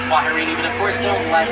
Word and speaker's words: kwaherini: And here in Harambe, the term we used to say goodbye, it is pronounced Kwaherini, but of course don't let this be goodbye.